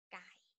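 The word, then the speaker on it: ไก่: This one, the shape like it, up like it, we call gai, which is g sound. Pronounced as the word gun.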